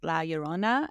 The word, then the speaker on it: La Llorona: Like, from what I understand, the more the Spanish pronunciation is La Llorona, and then Yeah, it's because La the double L is a Llorona. Y sound. Right. It's like La Llorona if you're from like Mexico and Latin America.